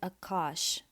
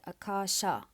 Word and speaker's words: Akasha: And in Hindi, the ether is called Akash. But if we lived in ancient India and spoke Sanskrit, we would call it Akasha. So there's a slight sound at the end of the words.